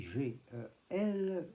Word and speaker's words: gel: Nous avons vu comment, pourquoi le mot gel, bien qu'écrit G-E-L, se prononce gel. C'est que le L se présente comme un L avec petit E chuchoté. On a donc gel.